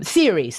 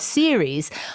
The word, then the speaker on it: Ceres: Okay, so we're going back to Ceres, series. Okay, now I find series. Now this is interesting that you pronounce it series, because my brain immediately thinks